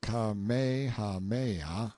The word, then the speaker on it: Kamehameha: When Kamehameha, pronounced Kamehameha, the Great, who was a sort of a